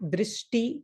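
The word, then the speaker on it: दृष्टि: If you pronounce slowly, then you can identify the breakpoints. Drishti. Automatically see, you will see 2 syllables.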